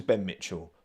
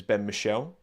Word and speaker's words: Ben Michel: Well, I thought it was Ben Mitchell, but the fella who introduced him pronounced it as Ben Michel.